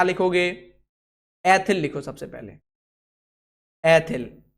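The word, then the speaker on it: ethyl: तो सबसे पहले इन्हीं का नाम लिखो, क्या लिखोगे, एथिल लिखो सबसे पहले, एथिल। इसको इंग्लिश में उच्चारण करेंगे, इथाइल करेंगे।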